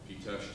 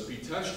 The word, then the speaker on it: Pitești: Pitesh is spelled P-I-T-E-S-T-I, and it's well worth your while if you want to learn about it.